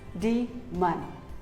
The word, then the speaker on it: daemon: similarly here's another word it is not daemon or demon it is d man demon here are some more